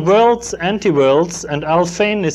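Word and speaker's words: Alfvén: It's called Worlds, Anti-Worlds, and Al Fain is spelled A-L-F-V-E-N, and I have the exact reference in the bibliography of my book.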